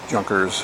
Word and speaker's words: Junkers: that's a gu 88 junkers or yonkers however you want to pronounce it as well as